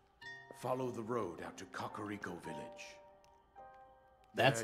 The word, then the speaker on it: Kakariko: Follow the road out to Kakariko Village. That's how you pronounce that.